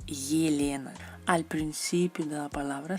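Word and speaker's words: Елена: Se pronuncia como el diptongo Y cuando está al principio de la palabra. Por ejemplo, en español tenemos Elena y en ruso es Yelena.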